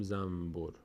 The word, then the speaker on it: زنبور: زنبور رو مثلا میگیم زنبور هر وقت در فارسی هم نون و ب به خاطر اینکه مخرجش به هم نزدیک‌تر بشه نون تلفظ نمیشه میم تلفظ می‌کنیم که تا راحت‌تر تلفظ بشه میگیم م بعد مثلاً